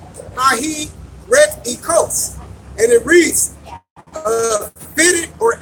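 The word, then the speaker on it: αἱρετικός: It's G141, and it's pronounced Hahi Ret Ekos, and it reads, fitted or able to take or choose a thing, schismatic.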